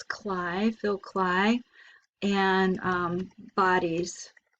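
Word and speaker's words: Klay: let's try phil cly i know it looks like clay but it's cly phil cly and um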